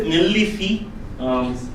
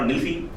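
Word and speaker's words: ನಿಲ್ಲಿಸಿ: So the first one is nillisi, God and nilsi. Some people use it very short nilsi, very quickly, but nillisi is the right pronunciation, but you can use either way.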